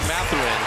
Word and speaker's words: Mathurin: People, oh, is it Mathurin? No, it is Benedict Mathurin, and you'll learn that.